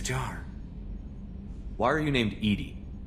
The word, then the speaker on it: EDI: airlock is a jar why are you named Edie Edie is the phonetic pronunciation of Eed that is an acronym for